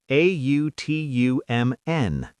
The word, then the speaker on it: autumn: A U T U M N. Autumn. That N is silent.